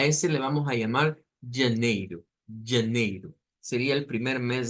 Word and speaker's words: janeiro: Siempre que encontramos ese diptongo EI en palabras en portugués, siempre vamos a tener la pronunciación con la I corta, como esta de acá, y la pronunciación como con una J. Janeiro o janeiro. Más comúnmente es janeiro.